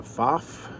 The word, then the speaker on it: Pfaff: if I say faf you say faf it's the name you'll always be corrected on because it's pronounced one way or the other I'm convinced of that